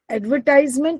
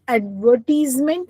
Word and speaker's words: advertisement: अब एक बात का और ध्यान रखना, एडवर्टाइजमेंट एंड एडवर्टीजमेंट, okay, they are different pronunciation. हम लोग अभी आई am saying एडवर्टीजमेंट, verb पे मैं ज्यादा जोर दे रही हूँ because it इज एज per British English, और हम लोग ब्रिटिश इंग्लिश फॉलो करते हैं।